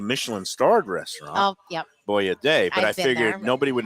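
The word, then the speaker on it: Boia De: don't even know if it's confirmed that it's pronounced boy a day it is okay Alex and Lucia Lucia they're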